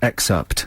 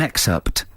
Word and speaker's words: excerpt: time you say excerpt can you can you say excerpt is that how it's spelled except yeah i want i want to hear the p okay so we're going to play you an excerpt thanks from a dvd